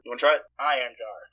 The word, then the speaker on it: Einherjar: Einherjar. But there's an H-E-R there. Yeah. It's not silent.